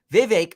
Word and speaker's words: Vivek: way Donald Trump performs Vivek rhymes with cake Vivek will be the next